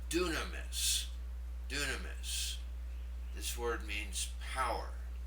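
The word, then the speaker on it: δύναμις: The second one should be pronounced dunamis.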